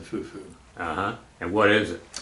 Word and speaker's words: fufu: local food called fuu that how do you spell that Fu fuo okay so you don't sometimes you hear the O pronounced on the INF fuo but we just always said Fufu uhhuh and what is it Fufu is uh